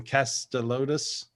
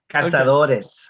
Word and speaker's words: Cazadores: in North Carolina and saying, "Can you give me some Castelotus?" I butchered it, right? I butchered it. Catalotus. How do you say it? Just a bit. Cazadores. Castelotus. Okay. Yeah, there you go.